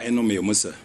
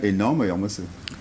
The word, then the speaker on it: Enoh Meyomesse: Bonsoir, Enomé Oumoussa. Bonsoir. Ah tiens, vous prononcez bien mon nom. C'est bien Enomé Oumoussa.